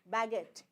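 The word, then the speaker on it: baguette: is not spoken spoken U is not spoken youu is not friendly with uh uh I and you is not friendly with G fine so here it is called baget this is how you pronounce baget fine most of the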